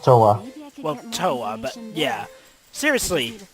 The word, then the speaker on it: Towa: It's pronounced Towa.